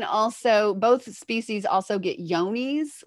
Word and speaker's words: Johne's: They can also, both species also get yonies, which is spelled with a J.